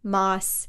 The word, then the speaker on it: Maas: Masterpiece and so like I hear that and I just think Mass all the time so yes it is moss I am working on